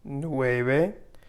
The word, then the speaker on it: nueve: ocho for eight ocho nueve for nine nueve and don't forget that we say this v con b with b and not a v sound so no bae no